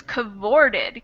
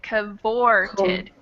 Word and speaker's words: cavorted: And then the other thing is here is the stress is on the O, so it's cavorted, cavorted. Cavorted.